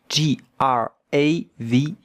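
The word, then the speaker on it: grave: Serious A V. G R A V E Grav. But the e at the end, we don't hear it.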